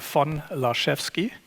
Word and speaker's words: Laszewski: My last name is actually phonetically pronounced as von Laszewski. Think about it as the La chef and ski. La is the happy cook that skis, so you can really remember this quite nicely.